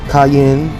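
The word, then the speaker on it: Qayin: Kan means Grace 100% cayen q a y i n is how you say C the one from the beginning that killed Abel that's how you spell his name with a q q a y i n cayen okay instead of just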